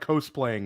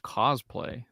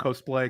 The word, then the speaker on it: cosplay: but in the it it's like Billy's like co-playing him he's like trying to go for the same look it's I think you bet it's pronounced cosplay Theo come on cosplay cosplay you know this I'll leave it I'll